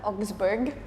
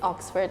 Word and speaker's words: Augsburg: That's how you pronounce it. Minneapolis. Augsburg. Yes. Bukan Oxford, Augsburg. People tend to like think it's Oxford, and I'm like, no, very far off.